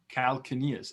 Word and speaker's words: calcaneus: It's like calcaneus. Calcaneus, yes. Calcaneus. I think they can also pronounce it calcaneus.